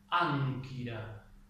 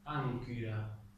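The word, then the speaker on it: ἄγκυρα: La siguiente combinación es gama kappa, ¿sí? Por ejemplo, cuando digo ánquira, ánquira.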